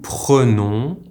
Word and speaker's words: prenons: Je prends, tu prends, il prend, nous prenons, vous prenez, ils prennent. You might have heard that the en in the verb is pronounced differently for the plural subject pronouns.